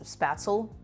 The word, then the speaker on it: Spätzle: We're making a little spätzle. I think that's how you say it in German. I think the anglicized pronunciation is Spaetzle or Spaetzle. Something like that.